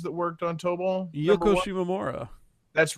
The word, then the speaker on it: Yoko Shimomura: Yoko Shimomura. That's right. Yoko Shimomura did He pronounced it right too.